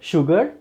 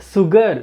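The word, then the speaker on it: sugar: Like सुगर, शुगर, नॉट सुगर, सुगर नहीं, बहुत सारे लोग सुगर कहते हैं, नो, इट शुगर, शुगर, श्योर, श्योर, ensure, right.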